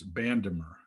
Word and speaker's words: Bandemer: judicial district court and ford motor company versus bandemer am i pronouncing that right yeah that's right so first